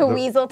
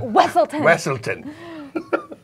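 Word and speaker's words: Weselton: like Tinkle Pants, so that every time someone pronounces it wrong, he's like, no, it's Tinkle Pants. It's like from Frozen. The Weaselton, and he's like, Wesselton.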